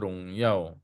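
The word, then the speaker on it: 荣耀: Tante bacanya Rongyao, ya, 荣耀呀， Rongyao.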